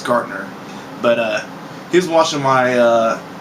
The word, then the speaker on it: Gartner: Gartner. Pretty sure, I'm hoping I'm saying his name right. Got that little T in there. It's kind of hard for me to pronounce Gartner, but he was watching